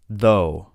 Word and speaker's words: though: Though, though. Thought, thought. Through, through. Thorough, thorough. You can see, depending on the word, the GH sound is pronounced differently.